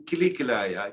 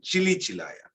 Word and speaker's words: kili kilaya: his pronunciation wasn't correct instead of saying kili kilaya he was in chile chilaya so then saka pandita